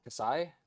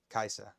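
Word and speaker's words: Kai'Sa: So Kasai? No, how do I pronounce it? Kaisa.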